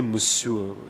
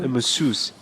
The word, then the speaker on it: masseuse: What does a musu do? Am I pronouncing it correctly? It's French. Huh? A masseuse.